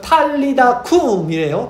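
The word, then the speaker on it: טליתא קום: 달리다고 많이 아셨죠? 이게 아람어인데 원어로 그대로 말씀드리면 탈리다쿰이래요. 발음이.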